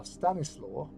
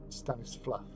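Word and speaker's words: Stanisław: looks the slor now Stannis law that's what we pronounce it but is actually pronounced Stannis fluff St F and Yad yva yva because the W is a v in Polish um so St so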